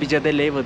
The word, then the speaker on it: Villa de Leyva: Buradan da Villa de Leyva diye yazılıyor. Villa de Leyva diye okunuyor. Öyle bir köye gideceğiz.